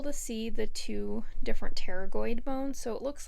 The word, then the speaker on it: pterygoid: see the two different pterygoid bones. So it looks like pterygoid, but the P is silent, just like pterodactyl starts with P, but you don't say it.